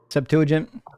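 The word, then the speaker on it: Septuagint: Uh Septuagent.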